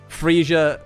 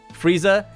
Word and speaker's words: Frieza: and kick some ass but it's really good freesia freesia freezer I keep saying it wrong freezer is insane uh revive werewolf thank you for